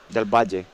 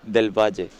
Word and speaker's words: del Val: Delbaj. Delbaj. Say again. Delbaj. This is Spanish so I can I can pronounce it like correct.